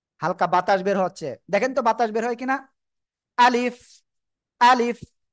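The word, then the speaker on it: ب: ওকে, আমার দিকে তাকান, এই যে এই যে সিম্পল আপনার দুই ঠোঁট লাগানো থাকবে। এবার এই অবস্থায় আপনার কি করতে হবে, উচ্চারণ করতে হবে, বা, বা, ঠিক আছে? যদি আবার মুখটা এরকম করেন, বা, তাহলে কিন্তু হবে না, ঠিক আছে?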